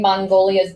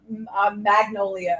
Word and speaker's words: Magnolia: Am I saying it right? Is it Magnolia? Magnolia? Mango. Mango. Do you know what I'm talking about? The one from Sex and the City. Magnolia. Magnolia, yes. Magnolia. I said Mongolia. Well, how do you say it right? Magnolia.